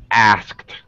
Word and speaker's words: asked: The word asked, because it's very complicated, it has S sound, K sound, T sound, we usually actually reduce it. And so when a native says it, it sounds like asked.